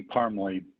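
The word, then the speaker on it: Parmley: name for the record please yes it's parmly could you spell that for the court reporter certainly that's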